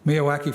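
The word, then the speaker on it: Miyawaki: native plant Meadow a MIAA I'm sorry I always pronounce this wrong M me Mia wacky so that's it Mia wacki forest or some other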